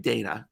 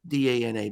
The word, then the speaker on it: Dana: It's Dana Yeah. Moustaff. It's spelled like Dana, D-A-N-A, but it's pronounced Dana.